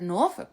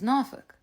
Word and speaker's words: Norfolk: around those parts now I've heard Norfolk before but my family says norol so I say